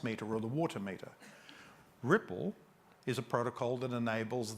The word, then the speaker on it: RPL: see another protocol there called RPL pronounced Ripple in a sensor grid